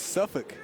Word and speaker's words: Suffolk: I told you it's not folk, it's Suffolk.